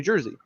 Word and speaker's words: Jersey: No offense to anyone from New York, but it's pronounced New Jersey. I just say Jersey. Jersey. It's like you have G-E-R-Z.